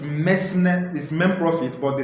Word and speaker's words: mesne: understand the difference between areas of friends and men prophet remember the pronunciation is men prophet sorry it's me is men prophet but the spelling is me